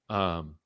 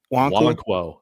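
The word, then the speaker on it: Nwankwo: yeah, Chidozie, I learned that I've been pronouncing it wrong. Chidoze. Wankwo. Wonkwo.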